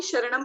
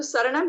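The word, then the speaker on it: सरणं: जो गलती मैंने की, काफी लंबे समय तक चत्तारी शरणम पवजामी ही बोलती थी मैं, क्योंकि हम हिंदी में शरण वर्ड यूज करते हैं ना, शरण नहीं यूज करते हैं। लेकिन थोड़ा और पता चला आगे कि प्राकृत में श लेटर ही नहीं है, सिर्फ स है, तो शरणम ही इसका सही उच्चारण है।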